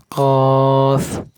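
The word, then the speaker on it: ق: কফ কফ কফ, এত ক ক করা যাবে না। কফ হরফের উপরে দুই নক্তা থাকবে, এই গোড়ল থাকবে। ফা হরফ আর এক নক্তা থাকবে উপরে। কফ শক্ত করে উচ্চারণ করতে হবে, গোড়া উপর দিকে তুলে দিতে হবে।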